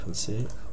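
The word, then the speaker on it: ふ: হা হি হু, ফু, হ্যাঁ হু হবে না, এটা ফু হবে, ফারুসুকারে ফু।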